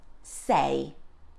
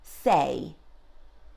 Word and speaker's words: sei: So, when at the beginning of a word, the sound of S is comparable to the S sound in soup. So we would say, sei. Repeat after me, sei.